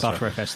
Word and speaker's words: Btrfs: Now, I don't know if it's actually pronounced BTRFS because I don't use it. ButterFS. Yeah, is it ButterFS? He says ButterFS throughout.